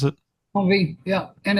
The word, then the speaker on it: Envie: Envie, is that how you pronounce it? Envie, yeah.